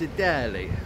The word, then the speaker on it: Eataly: So, it's either pronounced Eataly or Italy. It's Italy.